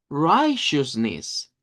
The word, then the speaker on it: righteousness: Y esto de acá, la T-E-O-U-S, suena como shoes, shoes, como que fuera una CH. Entonces decimos right shoes, right shoes. Y al final decimos knees, righteousness, righteousness. Solo son tres sílabas.